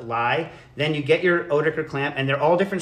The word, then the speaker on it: Oetiker: In America, we call them Oetiker clamps. And if you are German, you pronounce them Oetiker clamps.